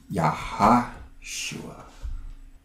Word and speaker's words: Yahashua: Joshua's name is Yahashua. So it's got an extra syllable in there. It's got a few extra syllables in there. There's a Y at the end. The Sha-Wa, right. And then there's the Ha in the middle.